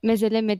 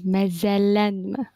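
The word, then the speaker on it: məzələnmə: Onu öyle mezeleme diyemezsin. Ama şöyle demen lazım. Mezellenme falan demen lazım.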